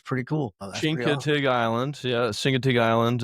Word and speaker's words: Chincoteague: You told me how to pronounce it, Chincoteague or something like that island. I think it's pretty cool. Chincoteague Island, yeah, Chincoteague Island.